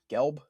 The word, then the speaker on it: Gelb: Gelb.